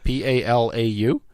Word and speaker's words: Palau: No, it's pronounced Nauru. Palau. P-A-L-A-U.